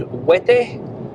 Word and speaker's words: Huete: As we know in Spanish, the H is silent, so you don't pronounce the H. It's not Huete, it's Huete. And it's the same as the word for peanut in Spanish, cacahuete, but without the caca before it, so Huete.